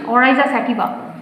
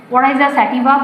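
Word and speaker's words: Oryza sativa: যেমন ধান, দেখো আমি জাস্ট স্পেলিংটা ইয়েটা বলে দিই, উচ্চারণটা বলে দিই, প্রোনাউন্সিয়েশন। ওরাইজা স্যাটিভা, ওরাইজা স্যাটিভা।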